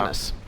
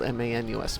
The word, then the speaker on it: Manus: It's just pronounced, or spelled M-A-N-U-S, Manus, I think.